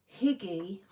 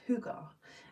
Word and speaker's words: hygge: It's going to have a higgy, but that's not how you say it because I've been researching it this week. I think it's called hoogar.